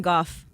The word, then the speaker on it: Gough: tiger woods place golf like his name is about like cough but with a g golf oh golf okay